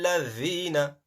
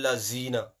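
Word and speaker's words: الذين: So, ihdina siratal mustaqim, siratal ladhina, not siratal lazina, siratal ladhina an'amta, an'amta, not an'amta.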